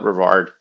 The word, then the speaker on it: Brevard: it's exact same spelling either pronunciation is totally common but locals call it Brevard I have a friend